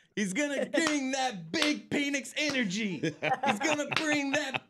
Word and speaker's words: Penix: I'm going to go He changed the pronunciation. To what, Chris? To Phoenix. Okay, yeah.